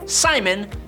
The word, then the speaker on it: Psimon: All of that, but he basically just calls himself Psimon, but cool because there's a silent P in front of it, so we all know that he has psychic powers.